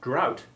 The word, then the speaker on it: drought: to every rule and remember that drought despite ending in ght has the ou1 sound as in plough a very important warning